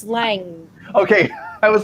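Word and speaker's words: Lange: how you pronounce it ted lage no it's not i'm just thinking how they said it no it's lang okay i was like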